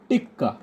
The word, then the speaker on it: টিকা: Note down করো, সিজি টিক্কা। এই বিশেষ অ্যাকচুয়ালি টিক্কা ওরা বলে, অ্যাকচুয়ালি টিক্কা না, এটা হচ্ছে টিকা। অ্যাকচুয়ালি বেঙ্গলিদের টিকা বলি, কিন্তু ওদের হিন্দি প্রোনাউন্সিয়েশনে বারবার টিক্কা টিক্কা বলে।